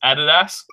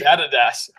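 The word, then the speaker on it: Adidas: subscribe to this amazing pod it is actually pronounced added ask and I give you a quick history lesson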